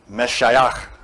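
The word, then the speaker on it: משיחא: The word Messiah in Aramaic is spelled Mem, Shin, Yod, Het, Aleph. Meshayach.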